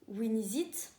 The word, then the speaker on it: Winixit: Du coup, son Insta, je le remets, mais c'est Winizit, car ça se prononce comme ça.